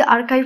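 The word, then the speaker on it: archive: যেমন তুমি এই ওয়ার্ডটিকে যদি আর্কাইভ না বলে আর্চিভ বলো তাহলে কিন্তু তুমি রং।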